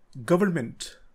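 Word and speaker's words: government: and answer इस बीसीडी इसमें and silent होता है इसकी करेक्ट प्रनंसीएशन है गवर्नमेंट गवर्नमेंट A picture of people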